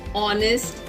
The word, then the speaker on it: honest: Here the words honest, are and honor begin with the consonant letter H. But when we pronounce these words, we say honest, are, honor, which is a vowel sound.